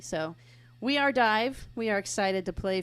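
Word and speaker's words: Dyev: decided on one and we are calling ourselves dive it's spelled a little weird we're spelling it D Yee V but but it's pronounced d i v so we are dive we are excited to play for you tonight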